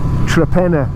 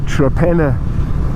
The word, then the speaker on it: Torpenhow: You know how that's pronounced? Trepenna. It's spelt Torpenhow, but we pronounce it Trepenner.